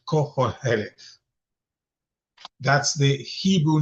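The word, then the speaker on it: Qoheleth: The Hebrew name for the book is cohel. And let me spell it. Q o h e l e t h. Cole.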